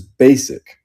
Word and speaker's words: Bassic: choice that's fair uh bassic is an old tagger name of mine pronounce is basic let's go dude I